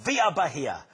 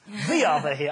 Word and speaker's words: Via Bahia: And now we've got 5 exciting developments to show you, starting with the Via Bahia, which I like because it rhymes. Via Bahia, and I sound good doing it, so I don't care.